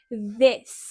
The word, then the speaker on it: this: Esto en inglés es un sonido donde realmente tenemos que dejar que pase el aire. Es un sonido más suave, no es D, es this.